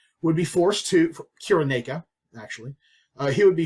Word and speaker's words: Cyrene: who was from uh Kyrene or Cyrene as it's sometimes pronounced would be forced to cure naika actually uh he would